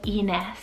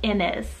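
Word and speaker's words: Inez: a lot of zeds they more so pronounce it as like an s whereas in english some people might pronounce this as like innis and this one means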